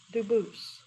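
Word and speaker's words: Dubois: They do pronounce it dubis, but you said you pronounce it dus as the original dub boost as the original French. Yep. Very well. Duboose.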